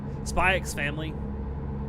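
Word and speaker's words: Spy × Family: else would I give spyx family I'm going to pronounce the X because it's there anyone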